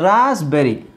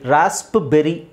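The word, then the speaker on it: raspberry: okay psychotic psychotic ಹೀಗೆ ಇಲ್ಲಿ ನೋಡಿ ರಾಸ್ಬೆರಿ ಇಲ್ಲಿ ಮಾತ್ರ ಪಿ ಸೈಲೆಂಟ್ ಆಗುತ್ತೆ ರಾಸ್ಬೆರಿ ರಾಸ್ಪ್ಬೆರಿ ಅಂತ ಹೇಳಲ್ಲ ರಾಸ್ಬೆರಿ ರಾಸ್ಬೆರಿ ರಾಸ್ಬೆರಿ ಅಂದ್ರೆ ಒಂದು ಹಣ್ಣು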